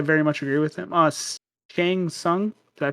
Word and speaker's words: Shang Tsung: Shang Tsung. Did I pronounce that right?